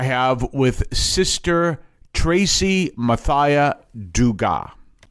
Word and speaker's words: Dugas: So duga. Oh okay. Oh. So you don't have an S where often there is and where there is an S you don't pronounce it right I mean